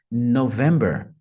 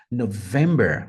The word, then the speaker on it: November: vez só Mike November representando a letra N November November Ah notem que tem uma ênfases no vem November táxi vai a lima Eco November Lima Eco November interessante né como fica claro